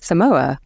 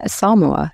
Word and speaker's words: Samoa: visit to Australia and Samoa Sam I think that's how you pronounce it yeah everyone in the UK normally says Samoa I think I said playing rugby Etc yeah Samoa is the correct pronunciation I stand however to